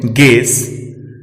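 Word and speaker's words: guess: यू तब silent रहता है जब यह जी के बाद और वॉवेल के पहले आता है। हम देख सकते हैं निम्न शब्दों में गेस, गाइडेंस, गिटार, गार्ड, इन सभी शब्दों में यू साइलेंट है।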